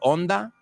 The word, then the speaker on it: Honda: the year 1948, the Honda, you say Honda? Vosotros no pronunciáis la H, ¿no?